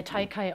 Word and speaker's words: TEIKEI: jeden Fall los bei taikai Olive genau richtig ausgesprochen oder ja kommt aus dem japanischen ah okay übersetz mal bitte